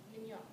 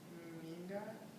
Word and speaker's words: Mingot: So, Megan, why don't you talk about Miss Manson Mignot? Mignot. You pronounce her name. Mrs. Manson Mingot.